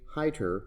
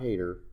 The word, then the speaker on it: Heiter: And our first teacher was Miss Sally Mae Heiter. It's not Hater.